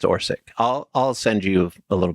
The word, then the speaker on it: Orsic: I was trying to, the entire episode, I'm like, is it Orset or Orsic? It's Orsic.